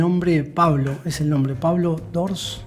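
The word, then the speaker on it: Pablo d'Ors: pablo es el nombre pablo sors así se pronuncian que el 80% de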